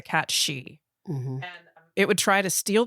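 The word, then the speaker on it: cat sidhe: called a cat's uh it's spelled s-i-d-h-e but it's pronounced a cat she it would try to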